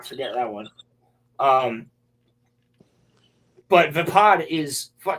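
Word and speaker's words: Vaapad: I pronounce it vapad. Uh some people pronounce it vapod, but the lightsaber style that Mace Wind uses, which is vapad.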